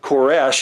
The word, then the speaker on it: Koresh: I did this and I talked about Cyrus Koresh is how it's pronounced actually in Ezra there are two different